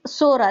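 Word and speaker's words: psora: Greek words and actually the word is Sora that is TS o r a is silent that we call it as a SORA and actually the meaning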